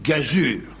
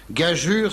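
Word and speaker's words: gageure: au cinéma était une gagure attention les enfants gajure s'écrit j'ai a g e u R e oui vous vous en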